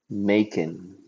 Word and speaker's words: Macon: match but it's spelled m as in uh Mike a c o n Macon Mason Macon Becca wrestling making bacon it's spelled like bacon with a m how's that that's great